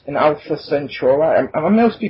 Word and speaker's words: Centauri: If you played 1999's best 4-time strategy game, Sid Meier's Alpha Centauri, never heard of it, that will sound familiar.